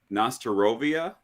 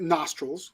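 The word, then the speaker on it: на здоровье: It's Nostorovia. Okay, so it's 2 words. Okay. So don't say it nostrils, which is what sounds like you're saying.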